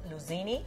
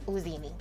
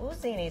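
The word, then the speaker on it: Iuzzini: Is it Luzini? Uzini. Oh, Uzini. So the L is... The I is silent.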